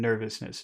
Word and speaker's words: nervousness: yes nervousness yes which which syllable has all of the force in nervousness nervousness ner ner nervousness nerve ner make it big because it's the special it's the special sound in this word okay so now we